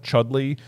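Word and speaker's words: Chudleigh: tin is a town called chudley which is spelled c h u d l i g h okay so it makes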